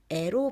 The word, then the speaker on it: 의: 이렇게 명사 뒤에 의를 붙여서 뒤에 오는 명사가 앞에 오는 명사의 소유임을 나타내요. 그런데 명사 뒤에 오는 의는 의 또는 에로 발음할 수 있어요.